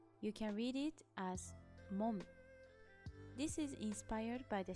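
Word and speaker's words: 門: You can read it as mon.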